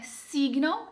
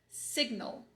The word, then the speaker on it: signal: Aqui você vai pronunciar esse G com gosto. Como é que você sabe disso? Que a transcrição tem um G. A transcrição mostrou que esse G está aqui, ele deve ser pronunciado. Esse I maiúsculo indica que você vai buscar o som de E, como a palavra seco, né? Então não é signal, é signal. Signal.